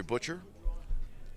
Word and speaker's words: Butcher: Yeah, so I just met Jeffrey Butcher. He verified that that's the correct spelling of his name, and that's how you pronounce it, just like Meat Butcher.